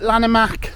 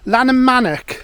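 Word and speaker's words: Llanymynech: mac oh hang on I've got to say it right now Lana manic Lana manic because I have to say that my wife always corrects me on it being like from over this way um Lana manic um and uh we're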